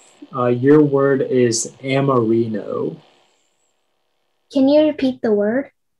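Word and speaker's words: amorino: all right your word is amarino can you repeat the word uh the word is amarino amarino may i please have all of the information yeah so it can be pronounced amarino or amarino it's a noun and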